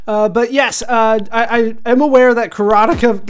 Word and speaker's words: Karateka: But I'm told it's Karateka.